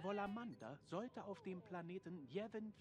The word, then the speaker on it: Yavin: Dann gehen wir zu dem großen Tempel von Yevin 4. In Englisch wird das ja auch Yavin ausgesprochen, ne? Und auch nicht Javin oder Javin, ne? Oder Yevin.